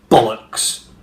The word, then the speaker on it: bollocks: And when you do the first of the two syllables in bollocks, you have to kind of go bollocks.